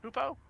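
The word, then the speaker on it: Hopoo: Hoopo? Hapu. How do you pronounce it? Hoopu.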